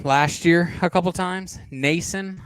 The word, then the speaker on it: Nason: Nosen, I'm a big fan of Nosen. We used him last year a couple times. Nason, I think is actually how you pronounce it.